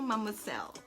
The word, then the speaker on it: Mademoiselle: comes like this um see how to pronounce this is Coco Coco mum with cell it's so French you know when do